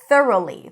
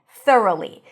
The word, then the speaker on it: thoroughly: So here the tricky part is the TH and the R.